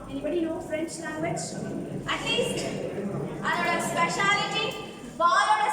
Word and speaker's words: balle: Ballோட spelling Frenchல வந்து B-A-L-L-E balle அப்படினுவாங்க. Right? But they will pronounce it as only ball.